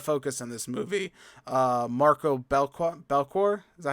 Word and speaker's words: Belcourt: Marco Belcourt, is that how you say his name? Yeah, Belchor.